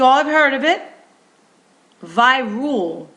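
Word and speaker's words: Virool: Virul, not viral, but Virul. I'm going to spell it for you. V as in Victor, I-R-O-O-L. Virul.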